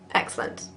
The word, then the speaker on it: excellent: Careful, you Britons, that you don't truncate it into 2 syllables. Excellent. Excellent. It's definitely 3.